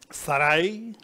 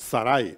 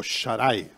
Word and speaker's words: Sarai: And the wife of Abraham, which is Sarai, is an anagram of the Divine Mother. Sarai is written with Shin, Resh, and Yod. Pronounced Sarai or Sharai, but it's Sarai.